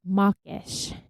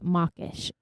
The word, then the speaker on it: mawkish: do you know what mawkish means? Mawkish, as spelled M-O-C-K-I-S-H. M-A-W-K-I-S-H. So we're getting into the difference between very minute pronunciations. Oh. Because I think you certainly said mawkish with a O.